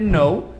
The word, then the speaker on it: know: Só que é I don't know, porque know também é K-N, esse K não é falado.